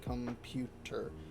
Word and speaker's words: computer: For example, computer needs to be pronounced computer. In order to sound right.